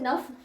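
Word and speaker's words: neuf: spelling बहुत गड़बड़ आते हैं तो प्रोनंसिएशन और स्पेलिंग फ्रेंच में बड़ व करने पड़ते हैं ठीक है ध्यान रखना तो नफ कहते हैं ना को ठीक है मैंने ऊपर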